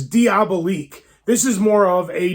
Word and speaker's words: Diabolique: It's Diabolique.